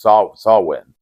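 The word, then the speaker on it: Samhain: can only appear on Sam ha which actually pronounced saw swin which is which is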